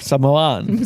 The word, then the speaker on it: Samoan: What was that word? Samoan. Samoan? Okay. That's how they say it.